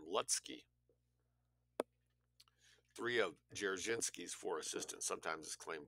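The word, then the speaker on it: Dzerzhinsky: M lutzky three of jerichinski's four assistants sometimes is claimed jersinski was a Jew I think he was a Polish whether or not he was a Jew d-z-e-r-z-h jerichinski it's hard to pronounce moving on to 558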